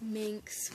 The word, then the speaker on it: Minx: Yeah, his name is Minx, because it rhymes with Lynx.